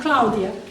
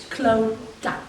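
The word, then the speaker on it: Clodagh: You see the way my name is spelled with the GH? That's the Irish spelling. So it's not Claudia, it's Cloda.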